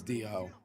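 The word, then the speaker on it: Diaw: Yeah, it's Dio. That's how it be pronounced. Dio. Cuz I know in basketball, Boris Diao. His last name was Dio. I think it was spelled the same way.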